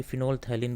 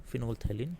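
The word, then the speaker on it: phenolphthalein: ये फिनोल थैलिन बोलते हैं इसको, प्रोनाउंसिएशन इसका ये है, फिनोल थैलिन सॉल्यूशन।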